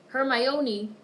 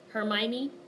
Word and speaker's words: Hermione: Ginny Weasley her Mon her my oniy I say her my oniy - I thought that was how you pronounced it Hermione whatever I hate it